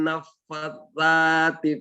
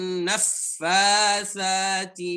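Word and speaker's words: النفّاثات: Ya, sa bukan za ya, tapi sa. Coba. Wa min syarrin naffadzati fil uqad. Baik, barakallahu fiik. Ya, banyak latihan ya. Ya, seperti ini. Ya, bacanya wa min syarrin naffasati fil uqad.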